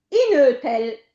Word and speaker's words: inötel: l'accento andrebbe sulla O di inötel, vocale celtica, ma siccome ha la dieresi quando l'accento arriva su quella sillaba lì, funge da accento e quindi l'accento non si mette.